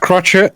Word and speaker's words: crochet: fit in the depression crochet which actually i have been doing quite a lot it's pronounced crotchet thank you an old